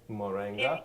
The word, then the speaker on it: moringa: But for me, I got the how do you pronounce it? Moringa.